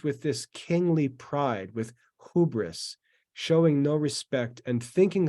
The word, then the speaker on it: hubris: you can see it the word is it's pronounced hubris and you'll you'll hear this as you read